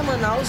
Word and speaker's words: Manaus: Se escreve-se bastante, no entanto, a pronúncia é Manaus, né? Pronunciar é Manaus, mas ficou conhecido assim devido à tribo dos Manaós.